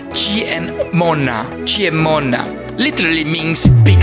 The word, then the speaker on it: Ciemmona: and M in Italian C pronounced G and M pronounced ma same together makes G n Mona cheer Mona literally means